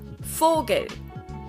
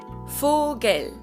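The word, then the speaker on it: Vogel: right another pronunciation thing the v in german is pronounced exactly the same as the f in german it's both they're just written differently for example the word bird in german is called fogel fogel it's also with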